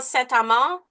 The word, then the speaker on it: Saint-Amand: Counselor Jean Saint-Amand, District 16. Oh, I got to commend you on your pronunciation. I'm Yes, Francophone, so I went Francophone. Is this correct to pronounce in French?